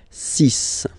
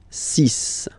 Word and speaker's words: six: And be careful here, because even if it's ending with this X, well, you'll have to pronounce it like S, S, okay? So you get the six pronunciation, six, six, okay?